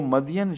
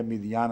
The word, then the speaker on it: مدین: تلقاء مدینہ، جب وہ مدین شہر کی طرف، قرآن کریم اس کو مدین ہی لکھتا ہے، اس لیے میں بھی مدین ہی پڑھتا ہوں، مگر بائبل میں اس کا تلفظ مدین یا مدیان آتا ہے۔ جب وہ مدین